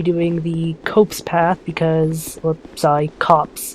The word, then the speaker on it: Copse: I'm going to be doing the Copse path because, Copse is the proper way of pronouncing this area's name.